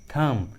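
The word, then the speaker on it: thumb: जब भी किसी इंग्लिश वर्ड्स के लास्ट में बी रहता है और उस लास्ट वाले बी के जस्ट पहले एम रहता है तो बी का उच्चारण नहीं करते, बी साइलेंट होता है।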